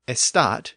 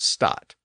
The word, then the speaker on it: estat: of French would say estat in the proper French way. But an English speaker who didn't know French very well would anglicize it to just stat.